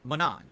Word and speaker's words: Manon: It's pronounced Manon. That's how you pronounce her name, Manon.